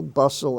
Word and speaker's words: bustle: l-e the la sound hustle that's an exception hustle bustle and rustle in those words the t is silent bustle a hustle bustle